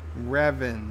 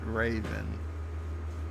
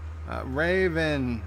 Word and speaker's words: Revan: miles is correcting me on my pronunciation reven not raven darth revan does it make a difference tomato tomahto actor says mr.